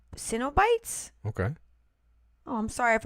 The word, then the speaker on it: Cenobites: Oh, he says it's pronounces Cenobites?